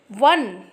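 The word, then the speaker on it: one: वन, ये spelling जरूर ओ से है जो कि एक वोवेल है, बट साउंड क्या आ रहा है, वा, जो कि व्यंजन है, स्वर नहीं, इसलिए अ लगा दिया गया है ना, अ 1 रुपी नोट।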